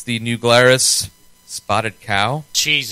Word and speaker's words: New Glarus: Anyway, New Glarus. Am I pronouncing that right? Yeah, New Glarus.